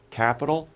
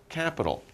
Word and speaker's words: capital: almost the same pronunciation capital capital basically the same pronunciation just a little bit different in the spelling okay now we've come